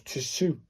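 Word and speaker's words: つ: So it's Tsu, Tsu, Tsu. That is a Tsu sound.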